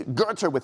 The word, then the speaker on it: Goethe: He said, you know, you have to, it's Goethe with a silent R, like in the British.